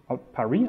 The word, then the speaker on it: Paris: have a file here hello Perry Perry I guess silent s is very confusing so what you can